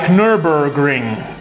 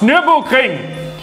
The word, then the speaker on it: Nürburgring: Oh, well, this doesn't matter because you say other things wrong also, like Nürburgring, when it is actually pronounced Nürburgring.